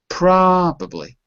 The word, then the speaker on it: probably: noticeably wait wait notice it's the first syllable that has a stress probably probably that's it the